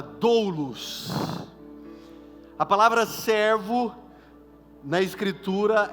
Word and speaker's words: doulos: Ao se apresentar, o apóstolo Paulo utiliza uma terminologia que no original tem por pronúncia a palavra doulos.